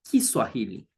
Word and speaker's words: Kiswahili: Now, in Swahili, we say Kiswahili, Kiswahili language.